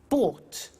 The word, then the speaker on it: bought: Buy, bought. You notice that O-U-G-H-T is pronounced ought.